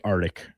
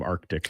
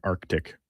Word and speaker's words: Arctic: Mine is, people say Arctic instead of Arctic. Arctic. There's a C in there. Arctic.